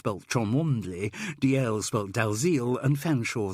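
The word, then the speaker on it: Featherstonehaugh: one need only mention chumley's both chomple and fanshawe spelled featherston though there is further confusion with this last because some owners of that surname do insist on pronouncing it featherstone carol couldn't help smiling yes gerald i think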